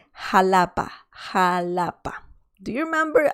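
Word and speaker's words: Xalapa: and the city or the capital is called halapa ha lapa do you remember i talked about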